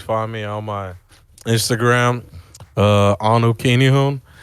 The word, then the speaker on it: Anu Kinihun: You can always find me on my Instagram, Anu Kinihun. It's spelled ANUKINIHUN.